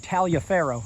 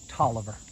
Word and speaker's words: Taliaferro: you already do but Toliver and Taliaferro are the same thing you ever see something written that looks like Talia Farrow it's pronounced Toliver you find walking around